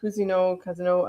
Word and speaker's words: Cousineau: My name is Cousineau. My family butchered the pronunciation of that name long ago, so you can say Cousineau. I'm French, Quebecois, way back.